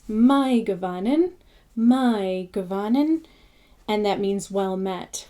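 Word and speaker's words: Mae govannen: So the example, my Gavanin, although it looks like may Gavanin, it's my, because it's I or dine. So it's my Gavanin, and that means well met, which I say in a lot of my videos.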